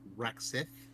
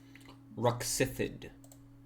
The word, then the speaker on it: Roxifid: Is it Roxith? Roxifid. Roxifid.